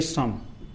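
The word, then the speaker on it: psalm: यानी यहां एल भी साइलेंट है और पी भी साइलेंट है। अब इसको क्या पढ़ेंगे? एस ए एम। क्या पढ़ेंगे? सम।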